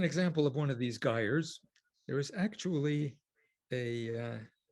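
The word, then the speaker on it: gyres: world's oceans they're called geyers and it's pronounced like tires and they're associated with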